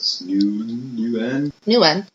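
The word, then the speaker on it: NeuN: genetic ething basically there's something called and I pronounce this you knew n so nu n is a neuronal nuclear antigen which is used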